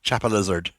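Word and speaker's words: Chapelizod: And I'm not the only person to have heard it pronounced in Dublin as Chapa Lizard.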